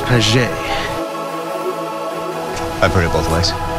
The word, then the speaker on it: Paget: It's pronounced paget.